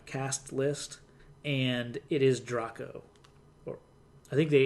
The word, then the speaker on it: Draco: looking at the cast list and it is Drock oh I think they it's pronounced Drock Oh spelled draco like okay I go from that's yeah we've been saying Drago and I didn't feel quite right but yeah